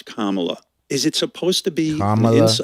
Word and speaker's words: Kamala: mispronouncing your name they they act as if they can't say Kamala it's not that comp what's going on what really is going on there when they can't pronounce comma is it supposed to be an ins is it like well Camala Harris just slides off the tongue a little bit better